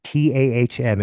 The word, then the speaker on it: TAM: It's called TAHM. It stands for the Anti Hollywood Musician, and the acronym is TAM, or pronounced. You can just say TAM. It works.